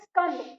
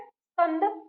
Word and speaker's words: स्कंद: आपको न तो 'i' जोड़ना है, न ही पूरा 'sa' बोलना है, और न ही 'a' जोड़ना है। इसलिए, हमें याद रखना चाहिए कि यह आधा 'सा' है। तो, इसका उच्चारण कैसे करें? मेरे बाद दोहराने की कोशिश करें। स्कैंड. यदि ' i' का उच्चारण हो भी रहा हो, तो उसे इतनी धीमी आवाज़ में बोलें कि वह आपके मुंह से बाहर न निकले। इससे आपको यह स्पष्ट रूप से सुनाई देगा।